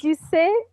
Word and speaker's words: Duquette: But- Either Ducet or Ducette. Ducette. Like Americans say Ducette and French say Ducet. We'll say So it's Ducette.